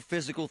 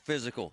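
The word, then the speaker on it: Fyzical: You want a new physical therapy experience?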